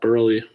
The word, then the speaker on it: Burley: Anyway, before it lags again, this is Burley. with a silent E, Burley with a not silent E.